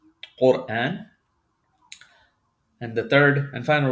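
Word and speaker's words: قرآن: So this is qaf, dhamma, ra sukun, qur. This ra is going to be pronounced heavy. Quran.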